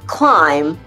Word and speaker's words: climb: Allez, on le fait ensemble et on oublie les B. On ne les prononce pas. I doubt your debt with the plumber will climb.